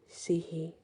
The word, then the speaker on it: Sidhe: So it is spelled Sidhe, Sihi, but it can be spelled Sidh, or Sith, but it's pronounced she.